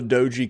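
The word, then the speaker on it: Doge: that's awesome give her uh oh all the doji coin is it doji kyle yeah i like to pronounce it doggy coin because i just like to picture like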